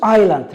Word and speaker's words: island: So, and also island. Remember, S is silent. Don't pronounce it. It's an island.